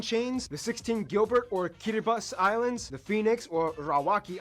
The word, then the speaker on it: Kiribati: way quick side note the word kiribus is just the pronunciation of Gilbert in the native language most of the inhabited